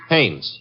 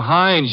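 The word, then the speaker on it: Haines: Hannes. H A I N E S. Ah. Oh, Hannes. Yeah. Do you know him? Well, there's a fellow named Hines used to fish.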